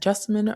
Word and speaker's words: Jessamine: This is your host, Jessamine. Now, I tend to tell people that Jessamine rhymes with specimen, but with a J, and I am a